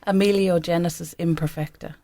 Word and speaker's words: Amelogenesis Imperfecta: And once we had I need you to pronounce huge. that term again, by the way. Amelogenesis Imperfecta.